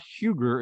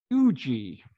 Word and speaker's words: Huger: presentation for a while i'm mispronouncing the guy's name it's not huger it's fuji the ship anchors off georgetown bay south carolina on june 13 1777.